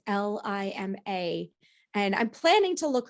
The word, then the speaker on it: Lima: I don't know how to pronounce her last name, if it's Lima or Lima. It's Lima.